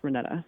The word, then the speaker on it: Renetta: It's Renetta. Great. It's like Renee with an extra couple letters.